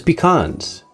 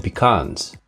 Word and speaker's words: pecan: Walnuts versus pecans. Appearance. Walnuts have a golden light brown color and more ridges than pecans. Pecans, pronounced either pecan or pecan, are smoother and flatter with vertical grooves and more of a red-brown color.